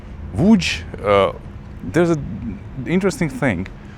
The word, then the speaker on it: Łódź: change in Polish language when the L letter is crossed over they pronounce it as a double V.